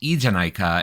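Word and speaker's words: ええじゃないか: In modern Japanese, this phrase would be pronounced eanika.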